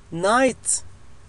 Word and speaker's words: night: الحرف الذي يليه N N No No Night Night والتي تعني ليل، ولاحظوا أن الجي اتش تكتب ولا تلفظ.